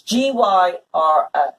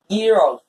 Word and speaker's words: gyros: but we're going to put it together, is Gyro. Do you know how to pronounce that? Gyro. No. Okay. Then I guess I don't. Gyros. Okay. It's not gyro. It's not gyro. It's gyros.